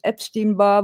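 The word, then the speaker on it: Epstein-Barr: I ordered tests for herpus viruses for example ep how do you pronounce this? Epstein bar virus and HV6 positive.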